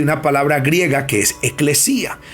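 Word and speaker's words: ἐκκλησία: viene de una palabra griega que significa, se pronuncia eclesía, y significa, oiga bien esto, llamar fuera de? Oiga, la palabra iglesia viene de una palabra griega que es eclesía, y eclesía significa llamar fuera.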